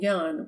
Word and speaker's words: Jan: jerry she adopted jan whom she called yan with a pure norwegian pronunciation as her own property